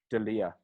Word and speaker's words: D'Elia: D'Elia.